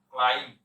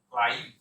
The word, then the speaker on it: climb: CLIMB, beta উচ্চারণ হবে না।